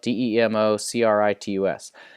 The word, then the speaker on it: Democritus: And it's spelled D-E-M-O-C-R-I-T-U-S.